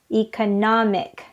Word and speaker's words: economic: is also confusing the adjective part is economic it's on the third syllable economic but the noun part